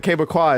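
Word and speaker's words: Québécois: So, I had to double check that Quebecois is the correct way to say it.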